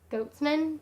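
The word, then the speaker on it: Gottesman: in the show that Lucas's name was Goatsman, but she was like Lucas Goddessman, and I was like, alright then. I was just kind of like, I guess I never really thought of Lucas's last name until she said it that way, and I was like, that's so not how you say it.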